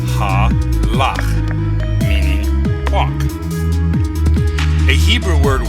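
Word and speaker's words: הלך: An example of this is this Hebrew word, which is pronounced halach, meaning walk.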